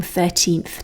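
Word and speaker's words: thirteenth: But basically, all of these from 13th to 19th can be said either with the stress on the first or the last syllable.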